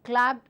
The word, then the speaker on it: clapped: in English language so these set of words with the past tense Ed form will take the pronunciation of the T sound so simple keeping in mind a clapped will become a clapped